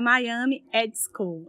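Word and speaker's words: Miami Ad School: Do IAB Brasil, coordenador do Comitê de Inovação da ABERJ e professor da Miami Ed School. É assim a pronúncia?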